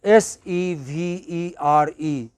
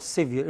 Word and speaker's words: severe: r e you know s e v e r e how do you pronounce it it is not severe it is severe s i n c